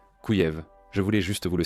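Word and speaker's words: Kyiv: Vous pourriez dire Kiev, mais c'est ainsi que les Russes le prononcent. Les Ukrainiens disent Kouyev.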